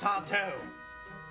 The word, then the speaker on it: Sardo: That's Sardo.